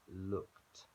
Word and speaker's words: looked: Only with words that end in D or T, and look ends in K, so it's looked. Sounds like a T.